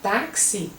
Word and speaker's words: táxi: Quando você fala táxi, você tem táxi como se fosse o X, uma letra C e um S.